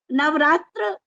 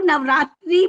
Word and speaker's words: नवरात्र: नवरात्र को कई लोग नवरात्रि भी कह देते हैं, लेकिन यहाँ इसका शुद्ध उच्चारण नवरात्र ही है, क्योंकि ये समाहार द्वंद्व, नौ रात्रियों का समूह, तो समाहार द्वंद्व होने से ये नवरात्र शब्द ही इसके लिए उपयुक्त है।